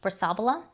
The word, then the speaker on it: Brassavola: genus another one is brassavola i've heard people um say that it is pronounced brassavala after antonio brassavalo and that is the italian pronunciation of it so it's kind of